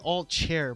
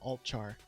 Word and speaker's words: altchar: I always want to say alt chair, but there's no I in there, so I just pronounce it alt char.